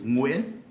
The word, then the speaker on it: Nguyen: county clerk's office nguyen aren't you glad that i got that one right no actually it's win you get it criminal